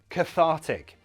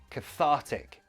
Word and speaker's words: cathartic: strong emotion, we say cathartic. The stress is here, thar, cathartic.